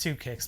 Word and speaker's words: 2Kicxs: company based in wisconsin called two kicks it's just two kicks but it's spelled differently you can check them